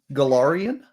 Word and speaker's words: Golarion: Golarion. Golarion. We need a pronunciation guide.